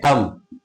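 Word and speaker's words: thumb: डैड डी ई बी टी क्या है ड थंब टी एच यू एम बी इसको क्या पढ़ेंगे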